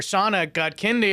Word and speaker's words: Shaunak Godkhindi: Please keep it going for Shaunak Godkhindi, everybody.